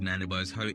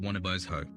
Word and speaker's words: Nanabozho: Nanabozho is pronounced as Nanabozho in the first person. In the third person, this name is pronounced Wanabozho. In the Null person, this name is pronounced Manabozho.